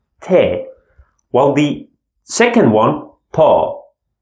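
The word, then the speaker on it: ت: from the first group Lita te is very soft that's why I'm smiling te while the second one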